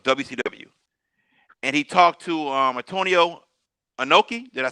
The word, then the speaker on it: Antonio Inoki: So Eric Bischoff had just taken control of WCW, and he talked to Antonio Inoki.